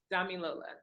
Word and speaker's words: Damilola: is it Damilola? Damilola. Damilola. It Yes. was a 50-50 chance, and I was back and forth. Yes, yes. I just go by Dami, but Damilola is cool.